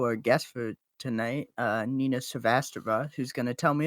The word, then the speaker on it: Srivastava: our marimba 2, our guest for tonight, Nina Srivastava, who's going to tell me if I pronounced her name right. So it's Srivastava.